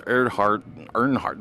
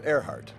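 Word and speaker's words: Erhardt: Lawrence Earnhardt. How do I pronounce that? It was Earhart.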